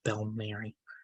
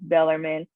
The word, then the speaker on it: Bellarmine: of operations role have Bill Murray University yeah see that's a it's a tough College to pronounce it's Bellarmine it's built crazy but it was it